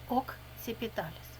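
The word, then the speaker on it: occipitalis: фронталіс лобовий окціпіталіс потилочний буква С перед і читається як ц перед іншими буквами як к окціпіталіс суперріор верхній інферіор нижній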